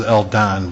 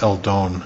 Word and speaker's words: El Don: about also it look it looks like it says el don but it's el doan is how it's pronounced but it's very nice